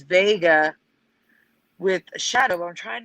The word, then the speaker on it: Wega: this difficult is that it's still pronounced vega so that's where we turn to the residue all right so here's how it is now can you zoom in curious there mm-hmm i'm pronouncing it wiga even though it's vega just to differentiate like